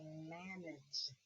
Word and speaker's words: manage: Then I have manage. Manage. Do you hear it makes a G? Manage. So it's a soft G.